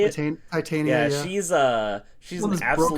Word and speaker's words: Titania: And shout out to I believe it's pronounced Titania. Is that how you say it? Titania.